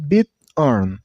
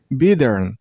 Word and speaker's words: bighorn: This name has two syllables, bighorn. Listen carefully. While you pronounce this word, you shouldn't make a T sound. Instead of making a T sound, you should make a little bit D sound. Not bighorn. It's bighorn, bighorn. And stress on the first syllable, I mean on bid.